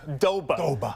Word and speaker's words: Doba: He'll still mention Bill Doba's name. Well, of he course, just likes to say it. It's 2 syllables. Doba.